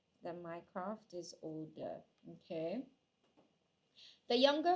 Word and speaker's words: Mycroft: No, it's not Meercroft. My recollection was Mycroft.